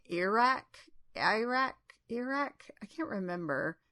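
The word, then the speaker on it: Eirak: I think they say Iraq. I can't remember. It's supposed to be like Eric, but I think they say Iraq.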